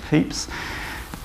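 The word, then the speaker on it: Pepys: Diary of Samuel peeps I've been told from a historian that they correct way of pronouncing that is peeps um Samuel peeps was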